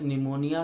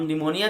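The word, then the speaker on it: pneumonia: के बच्चे हमारे पास निमोनिया के स्पेलिंग के अंदर पी की है बच्चे। तो हम निमोनिया जब बोलते हैं तो उसके अंदर जो पी है बच्चे वो कहीं पर गायब हो जाता है, तो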